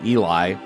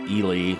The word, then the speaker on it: Ely: for the longest times I called the city Eli. It's spelled E L Y. And I was watching the local weather up there and they pronounced it Elely.